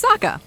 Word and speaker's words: Sokka: It's Sokka, pronounced with an aka.